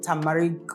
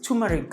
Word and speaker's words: turmeric: yeah and in the sorry taric turmeric I I pronounced it wrong and in the turmeric